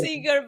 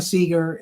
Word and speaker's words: Segar: Think Pete Seeger, Bob Seeger, and so on. They're spelled differently, but we're all pronounced the same.